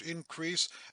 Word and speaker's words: increase: "But that our loves and comforts should increase," emphasis on the last syllable, crease, loud, even, 1, 2, 3, 4, then loud again, "as our days do grow," emphasis on days.